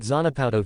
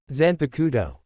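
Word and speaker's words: Zanpakutō: What's that Zanapato thing? Eno asked saying it wrong. Zanakudo Jeriah corrected.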